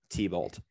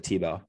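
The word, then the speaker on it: Thibault: no so it's t-h-i-b-a-u-l-t t-bolt but it's pronounced like tebow joseph huh i have actually no idea that's a great question jocelyn tebow he was like he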